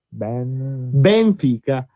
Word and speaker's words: Benfica: mettere bene la parola, l'accento sulla E iniziale. Benfica.